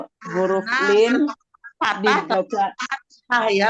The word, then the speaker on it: fathah: Ya, Huruf nah, lin patah dibaca fathah ya, bacanya bukan patah ya, fathah.